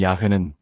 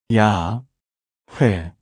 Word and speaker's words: 야훼: 하나님의 이름 야회는 사실 말로 발음하는 이름이 아니라 숨결로 내쉬는 이름이라는 겁니다. 한번 따라해 보세요. 숨을 천천히 들이쉬어 보세요. 야. 그리고 천천히 내쉬어 보세요. 회. 야. 회 들이쉬고 내쉬고 이게 하나님 이름의 소리와 비슷하다는 거예요.